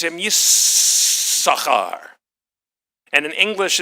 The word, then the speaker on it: Yissachar: kid number 8 is born, Leah names him Yissachar. And in English it's spelled Issachar with 2 S's.